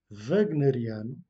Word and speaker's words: wagneriano: de Kafka, ou encore wagneriano, le W se prononce dans ce cas V, wagneriano, weberiano, ou alors yetsiano, donc des mots qui dérivent d'anthroponymes.